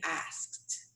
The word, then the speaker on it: asked: pronounce that i say asked like a little t at the end of